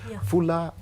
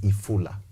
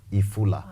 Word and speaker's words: Ifula: So at the end of the day, as we are building this story about Fuller, Fuller in a Luya dialect is rain. But it's supposed to be pronounced as Ifula. Ifula, meaning rain.